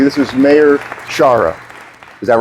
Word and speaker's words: Sciarra: This is Mayor Shara. Is that right? That's very I say Sherah, but Shara is also about as close as you can get.